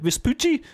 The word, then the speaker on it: Vespucci: Vespucci?